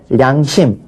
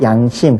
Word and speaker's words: 양심: 다른 걸로 바꿔야 돼요 그래서 량심 안하고 양심 그렇게 발음하고 궁 용 령자 령이